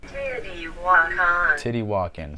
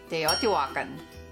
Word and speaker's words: Teotihuacan: Teotihuacan, so there it is. Together, this name is Teotihuacan.